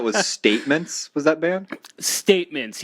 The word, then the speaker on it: STMNTS: Statements, yeah. It's spelled all caps STMNTS.